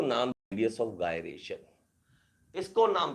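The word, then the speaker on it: gyration: और इस रेडियस को नाम, रेडियस ऑफ गायरेशन, इसको नाम दे दिया radius of गायरेशन, radius of गायरेशन। कोई भी जायरेशन बोलता है, कोई गायरेशन बोलता है, मुझे नहीं पता, आपको अपनी जैसी भी आपको प्रोनाउंसिएशन अच्छी लगे वो वैसी बोल सकते हो,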